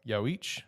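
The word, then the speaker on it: Yhwach: Yamoto going up against uh yaoich I believe is how you pronounce his name I listened to it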